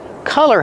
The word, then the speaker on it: color: Don't be confused with color. Color has the short sound like cup and up.